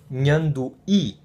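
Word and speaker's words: nhandu'i: It's a palatal nasal, and it's pronounced as in nyandu-i, which means spider.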